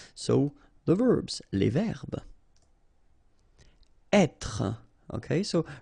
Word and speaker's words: être: Être. Okay, so remember that when you get this accent circonflexe here, you should really pronounce it openly. So, être. Okay, don't insist on the final être.